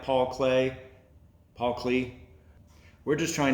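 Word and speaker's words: Paul Klee: by artist paul clee paul clay i remember learning about paul clee paul clay i think it's spelled klee but pronounced clay i remember my art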